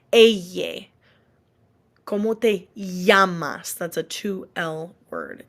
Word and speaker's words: llamas: If you see a word that starts or that has two L's anywhere, when there are two L's together, it always makes a Y sound, like a Y. Eye. ¿Cómo te llamas?